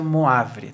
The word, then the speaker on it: Moivre: primeira fórmula de moivre se escreve moivre mas se pronuncia moavile tá então a primeira